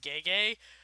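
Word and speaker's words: Gege: name is actually pronounced gay gay uh which is probably like some kind of laugh but uh i'm just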